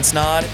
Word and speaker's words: Snaadt: My name is Snaadt. It rhymes a lot, and you're listening and watching the Rhymes with Odd podcast.